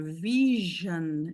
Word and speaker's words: vision: Você tem palavra escrita com S com som de J, como na palavra vision, usually, decision.